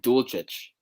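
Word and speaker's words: Dulcich: to be called uh his name is greg dulcetch okay bad words drew i know i was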